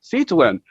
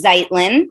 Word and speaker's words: Zeitlin: And here she is, Zeitlin. How are you doing? How are you? Hello. It's actually Zeitlin. Everyone gets it wrong.